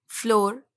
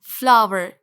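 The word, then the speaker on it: flour: तो बताइए दोस्तों, आप इसको क्या पढ़ते हैं? फ्लोर, right? फ्लोर बैग, फ्लोर mills, etc. बट सही प्रोनाउंसिएशन है फ्लावर।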